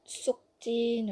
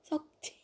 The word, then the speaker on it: 석진: It's not sukjin or sukjin. I've actually heard people pronounce it like that. Think of your socks. Sock. Sokjin. Sokjin. If sok is really hard for you, you can say aw, which is an aw sound.